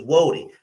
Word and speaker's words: Woden: His name was Woden. Now, a lot of people would say his name was Odin, but it actually wasn't Odin. It was actually Woden.